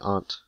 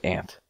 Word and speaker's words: aunt: oh no my aunt there's a u in it you Aunt is and Aunt your aunt wants to be an hourglass your eyes no pronouncing the word correctly doesn't mean I'm a 20. we live in Florida everybody says ant yeah but I'm not